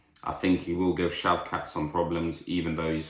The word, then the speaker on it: Shavkat: I just hear everyone call him shavkat so shavkat versus Steven uh Thompson Steven Thompson is 40 years old now um I will say this though very good standup fighter I think he will give shavkat some problems even though he's 40 years of